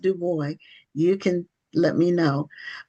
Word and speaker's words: Dubois: It's Dubo. Okay. Dubo, are you related to Web Dubo? I am not, but he is my namesake, so I like to pronounce my name the way he pronounced his.